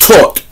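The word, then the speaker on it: Thoth: kemar and greeks and taught pronounced taught as in the past particle of teach taught in his indigenous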